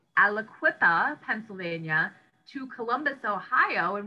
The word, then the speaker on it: Aliquippa: so you moved from and i i can't pronounce the name of that city say it again elliquippa aliquippa pennsylvania to columbus ohio and what took you